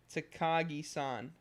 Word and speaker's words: Takagi: I know how to say the name, and I'm, like, fucking it up. Takagi-san. So Teasing Master Takagi-san.